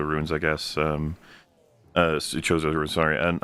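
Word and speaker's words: Chozo: The Koso runes, I guess. Um uh Choso runes, sorry.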